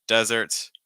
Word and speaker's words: desert: so again desert dessert this has to do with stress for desert with the sand then you want to stress that first syllable with dessert the sweet and the sugar you want to stress a second the way I like